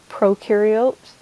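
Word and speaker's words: prokaryotes: procar iots and ukar procaryotes has the pro that rhymes with no so there's no nucleus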